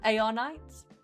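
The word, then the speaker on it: Arknights: Is the K silent? Is it arc knights or ar knights? A knights.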